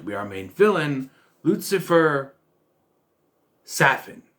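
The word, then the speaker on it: Safin: our main villain lucifer saffin even though it's spelled safe it if there's no if there's only one f i don't think you get the ass sound but hey it's how they pronounced it it's on them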